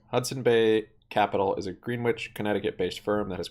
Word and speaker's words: Greenwich: oh they have this Greenwich in here g-r-e-e-n-w-i-c-h Greenwich I have two e's terms of the Bed Bath and Beyond French not grin not green witch or Greenwich a Greenwich all